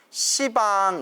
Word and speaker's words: 시방: 빵이라고 한다 고 했죠 빵 하면 발음이 너무 없애기 때문에 시밤 발음을 완화시켜 서 시방 이라고 한다 고 했습니다 시방 삼세 3세는